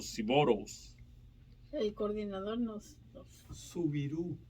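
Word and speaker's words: Soubirous: Subirú. Se pronuncia Subirú.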